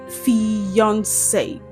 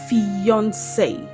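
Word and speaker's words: fiancé: These words are homophones. They have the same pronunciation.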